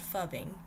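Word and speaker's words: phubbing: a term for it and it is called fubbing and it's spelled p-h-u-b-b-i-n-g um but yeah it's important to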